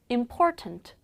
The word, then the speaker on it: important: 틈 발음도 맞아요. important.